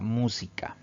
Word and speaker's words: música: Tenemos la palabra música. Si dividimos en sílabas, tiene también 3 sílabas. Al pronunciar esta palabra, la mayor fuerza de voz recae en la antepenúltima sílaba, contando siempre de derecha a izquierda.